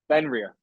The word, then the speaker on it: Fenrir: So then we go from there, we go to the Fenrir. All right. How do you pronounce that? Fenrir. Fenrir.